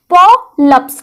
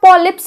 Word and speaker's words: polyps: हम बोलते हैं पॉप्स इसका उच्चारण किस तरह से करेंगे पो लप्स ठीक है हिंदी में आप पॉलिप्स बोलेंगे लेकिन अंग्रेजी में आप क्या बोलेंगे पॉलिप्स अब वो जो गांठ